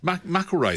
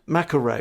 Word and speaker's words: MacIlwraith: Bill MacIlwraith. MacIlwraith, I thought it was. MacIlwraith.